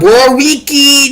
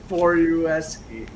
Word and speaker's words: Borowiecki: Not Borowicki, not Borowaki. It's Borowiecki. Borowiecki.